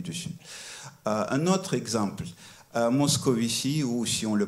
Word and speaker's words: Moscovici: Et donc, en polonais, on va le prononcer Moscovici.